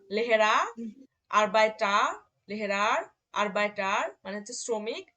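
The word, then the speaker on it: Arbeiter: হ্যাঁ, তাহলে যখন শব্দের শেষে এ আর থাকবে তখন তার উচ্চারণটা কি হবে, আ হবে। যেমন আ লেহেরা, আরবাইটার, লেহেরার, আরবাইটার মানে হচ্ছে শ্রমিক, লেহেরার মানে শিক্ষক।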